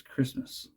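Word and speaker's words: Kiritimati: cared to know and why I refer to this fragrance as Christmas and why I will call it Christmas throughout the rest of the video because that's how it's actually pronounced and that's why and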